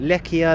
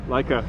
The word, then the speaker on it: Leica: Lechia, Lessia? Leica.